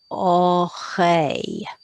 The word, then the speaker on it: oreille: So that will be oreille, oreille, oreille.